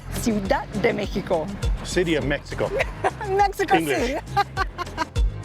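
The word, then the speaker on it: Ciudad de México: Ciudad de Mexico. That was like a Portuguese pronunciation. Ciudad de Mexico.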